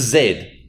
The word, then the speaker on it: zed: gotta pronounce it weirdly what's a Z it's called it it's a Zaid get it right guys but you know